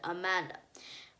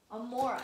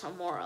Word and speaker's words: Amora: And he realizes the murderer is actually his long-lost old friend, Amanda. I think I'm not pronouncing that. Just let me check. Amora. Yes, Amora.